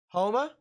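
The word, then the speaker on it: Houma: could still do catastrophic damage across the board homa that's how it's pronounced well i apologize i apologize as i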